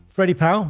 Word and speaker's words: Freddie Powell: Hello, Freddie Powell. Hello. That's the right pronunciation?